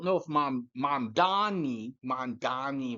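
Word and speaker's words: Mamdani: And I don't know if Mom Mom Donny Mom Donny rhymes with commie.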